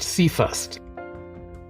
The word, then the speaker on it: CFRST: them I created an acronym which is cfrs pronounced C first so that's C for continuous cuffing f for